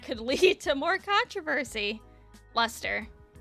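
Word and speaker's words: Leicester: lead to more controversy Lester why does have so many more letters if it's just luster holy hell shut up silent letters silent letters should be illegal Lester Shire old spelling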